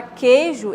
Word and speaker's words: queijo: Queijo, na palavra queijo existe o I. É correto sim a gente falar queijo e não queijo, queijo, como se não tivesse o I, né?